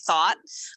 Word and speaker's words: Thoth: She always says, so for those of you guys that are listening and you're wondering who the heck is Candace Thought, and it's spelled THOTH.